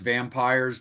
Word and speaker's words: Vampyres: Like it's pronounced it's still pronounced vampires, but like you know sometimes Britain just wants to be different.